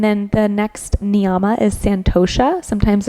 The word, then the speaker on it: santosha: And then the next niyama is santosha. Sometimes it's spelled with an M, so it'd be samtosha, but it depends what tradition you're studying.